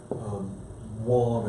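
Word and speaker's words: Wang: District Court Judge Wong, I believe it's pronounced, it's spelled W-A-N-G, that decision was then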